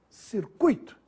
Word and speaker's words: circuito: caqui que estaria errado circuito ou circuito circuito é assim que se fala palavra circuito nada de dizer circuito e se escreve sem